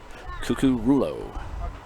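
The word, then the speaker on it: Jonovan Cucurullo: It's spelled JONOVANCUCURULLO. And on the pronunciation guide that Patrick so kindly sent me is Jonathan Kukurulo.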